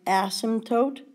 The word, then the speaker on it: asymptote: The second graph has something called an asymptote. It's pronounced asymptote. The P is actually silent.